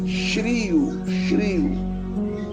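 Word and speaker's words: χρίω: Este verbo do grego é shrio. A escrita e a pronúncia é essa, shrio, que é ungir, visto que a unção com frequência era um rito de comissionamento.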